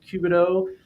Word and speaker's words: Cubano: Um so, Trout uh you know, connect with Matt Cubido. Are we pronouncing that correctly?